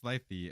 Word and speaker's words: slithy: Pronounce slithy as if it were the two words sly, make the G hard as in gyre and gimbal, pronounce wrath to rhyme with bath.